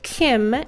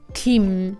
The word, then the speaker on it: 김: 김 is often translated as Kim in English but the correct way to read it in Korean is Gim. S o closer to G sound than K sound. So it's Gim namjoon.